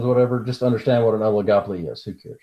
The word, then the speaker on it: oligopoly: into Oleg a police no it is not pronounced Oleg a Poli alright you can't I guess you want a tow case right okay so oligopoly just like an oligarchy the return Olli just means a few so what we're gonna